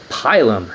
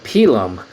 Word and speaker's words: pilum: same name which is which would be the pylum in english or the pilum in latin if you want to get fancy so you know thank